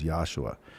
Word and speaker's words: Yahshua: argue why it's jesus his name wasn't jesus his name was yahshua they said well that's